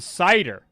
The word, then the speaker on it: CIDR: it correct it's a cider Wonder W gets it correct as well it is a cider okay um if you're asking uh so uh cider it's it's spelled it's it's spelled cidr if you're wondering what